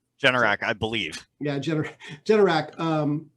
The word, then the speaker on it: Generac: you know i can never say it right generac generac i believe yeah generac um typically does well